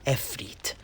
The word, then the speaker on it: Ifrit: These Djinn are known as fire Ifrits, although I've also heard it pronounced as Efrit in places such as Kofa and Al-Haik, so I believe that both pronunciations are correct.